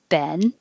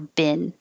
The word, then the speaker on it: been: you i have been you can say ben or ben british say bean so um you won't hear that from americans i have been